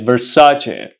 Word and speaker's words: Versace: famous and popular perfume do not say that I'm here to buy a vers perfume the correct pronunciation is Versace Versace so I'm here to